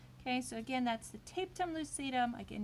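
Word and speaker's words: tapetum lucidum: so again that's the taped on lucidum again you can pronounce it tapatum lucidum and that is going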